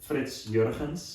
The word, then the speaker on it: FritsJurgens: It's very Dutch, and of course with the g sound, it's Yeah, always a yeah.